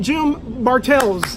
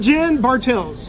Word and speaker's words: Jen Bartels: Anyway, ladies and gentlemen, Jim Bartels. Did I say it right? It sounded like you said Jim, but well, it's not Jim? No, it's not. Back out. Oh, no, I'm kidding. Jen Bartels.